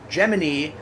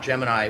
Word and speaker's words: Gemini: So, Geminy, um I believe it's pronounced that way, not Gemini, which was founded by